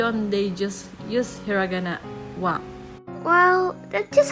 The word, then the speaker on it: は: Since practically every word in Japanese ends in a vowel, except those few that end in n, wa became the standard pronunciation for the particle.